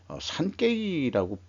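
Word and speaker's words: 産経: 찾아본 것은 상경신문에서 산케이라고 발음을 하겠죠.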